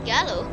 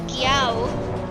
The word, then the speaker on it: Giao: yeah it's not yellow oh dear it's giao i am so sorry if you're watching this stream i am so sorry about my pronunciation of your name because i thought it was gallow because it was so hard to see that little dot i was just i